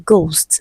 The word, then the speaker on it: ghost: Option C, letter H is also silent in ghost.